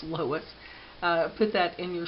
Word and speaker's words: loess: It's spelled l o e s s, but it's pronounced loess.